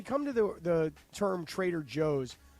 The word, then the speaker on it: Trader Joe's: to the the term Trader Joe's I personally don't pronounce the J for me I pronounce the J with an H so you call it Trader hose correct DeAndre what what's